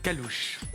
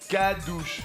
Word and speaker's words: Calouche: Oui, il vient de dire calouche. Je vous explique pourquoi. Oui. Pourquoi calouche ? C'est mon surnom. Oui. Pourquoi ? Séparer les syllabes, vous comprendrez. Cadouche. Non, Calouche.